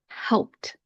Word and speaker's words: helped: So when you pronounce it, it's going to sound like this. T, t. Again, let's practice that word. Helped, helped.